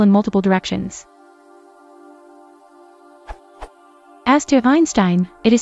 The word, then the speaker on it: Einstein: that will pull in multiple directions as to Einstein it is spelled the same in both German and English